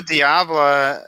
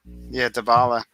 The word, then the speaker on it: Dybala: No Diablo or Dybala, right? Dybala. That's Dybala.